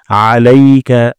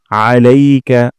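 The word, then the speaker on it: عليك: এবং আমরা ভরসা করি আলাইকা আইন গলার মাঝখান থেকে তোমার উপর আলাইকা তারপর এখানে সিন হয়ে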